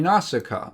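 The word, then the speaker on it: Nausicaä: And it's actually Naussica.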